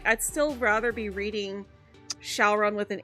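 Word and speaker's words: Syaoran: But the anime is in Japanese, so they call him Shaolon.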